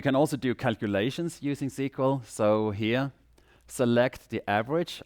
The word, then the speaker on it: SQL: The most used way of accessing databases is using SQL, or SQL, some people say, but it's actually officially pronounced SQL, and that stands for Structured Query Language.